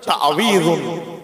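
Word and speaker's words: تعويذ: এই তাবিজ আমরা বলি আমরা অনেকে তাবিজ তাবিজ করি একচুয়ালি উচ্চারণটা হচ্ছে তাবিজুন তাবিজুন তাহলে আল্লাহর কাছে পানা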